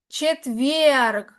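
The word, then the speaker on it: четверг: Chetvierg. La g suena un poquito más opaco, pero sí se pronuncia.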